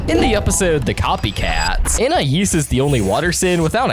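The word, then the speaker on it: Anais: INAIS'S NAME HAS TWO different pronunciations in the show. It's usually pronounced according to the name's French origin, Inais, but it's occasionally pronounced according to the English phonics, and Inais, instead, usually by Darwin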